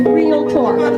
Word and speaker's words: Realtor: But when you are a realtor, that's how you say it. You say realtor, 2 syllables.